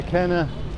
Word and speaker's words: Qena: Qena, I should pronounce it probably with ko, the deep ko, Q sound. Well, they write it as Q in English if they transliterate, but it is ko.